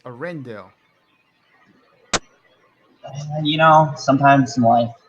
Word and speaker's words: Arendelle: Land will give fans a chance to walk around on Rindella and even take a trip on Wandering Oaken's Sliding Sleigh, a roller coaster. Ah. How did you pronounce that name wrong? It's Arendelle.